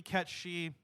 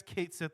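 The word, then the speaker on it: Cait Sith: they're pretty close it's it's supposed to be cat she I guess Kate Sith is fine Al technically that's the official pronunciation now and like I said that's how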